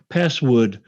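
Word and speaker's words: passwd: password change command um password isn't it p-a-s-swd uh no it's password oh okay well so never mind not such a good story but I remember you saying password password no I'm not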